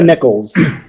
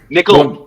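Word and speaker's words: Nickal: uh Beau Nichols and Val Woodburn not Beau Nichols nickel nickels yeah but Nate does it purposely he'll he'll mispronounce the name so it gives you an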